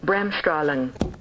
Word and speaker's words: Bremsstrahlung: Our next correction comes from Stefan, who says you get an A+ for pronouncing Bremsstrahlung in German.